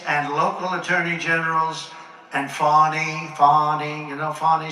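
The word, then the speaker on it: Fani: including local d and local attorney generals and fonny fonny you know fonny spelled f a n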